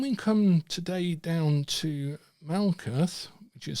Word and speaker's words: Malkuth: And in this case, Tau is at the end, so it's pronounced Malkuth.